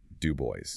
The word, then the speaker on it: Du Bois: He was famously disciplined and meticulous and of course that insistence on the correct pronunciation. Dub boys and his entire legacy is about that about insisting on intellectual excellence as a weapon against oppression.